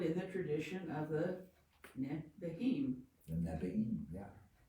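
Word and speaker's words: נביאים: So that double vowel there, you pronounce both of them, Nevi'im. Double I there in Yeah. that word.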